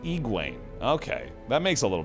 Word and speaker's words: Egwene: In the audiobook, they pronounce it Egwene.